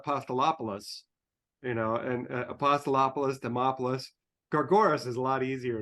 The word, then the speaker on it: Demopoulos: introduction anybody can say demopoulos I'm impressed cuz it rhymes with Acropolis and as far as